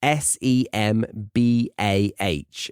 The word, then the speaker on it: Sembah: And then he performed the first, I think it's pronounced Semba. It's Sembah, according to Wikipedia.